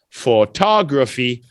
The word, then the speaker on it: photography: we're saying photograph that's the only time everything else is four tall photography photographer okay so that's the difference